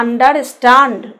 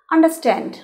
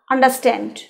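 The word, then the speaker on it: understand: তাহলে আন্ডারস্ট্যান্ড মানে উচ্চারণও কিন্তু অনেকে বলে আন্ডারস্ট্যান্ড, ওই সব ওটা বাজে উচ্চারণ। আন্ডারস্ট্যান্ড রটা বললাম না, বা বললেও কম বললাম, আন্ডারস্ট্যান্ড।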